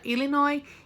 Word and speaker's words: Illinois: Tem o S ali, mas a gente não pronuncia. Illinois, Indiana, Iowa, Kansas, Michigan, Minnesota, Missouri, Nebraska, Ohio, South Dakota e Wisconsin.